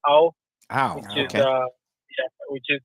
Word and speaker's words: Ao: AO stands for blue. It's pronounced ow.